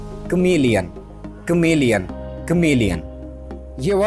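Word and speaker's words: chameleon: आसान नहीं होता है बहुत सारे लोग इसे कैमरा लियोन पड़ते हैं तो कुछ लोग इसे केम एलियन पढ़ते हैं पढ़ते correct pronunciation of this verse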